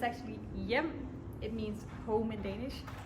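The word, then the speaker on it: Hjem: It's a Danish name. People normally pronounce it, what do they say? Hgm maybe. or something like that. But it's actually yum.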